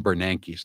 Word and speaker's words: Bernanke: Rashida Tlaib has no idea how to pronounce Ben Bernanke's name. Listen, cut 33. So I'm afraid that's simply not good enough. I mean, I think your predecessor's former chair is Yellen, and I believe it's Bernanke.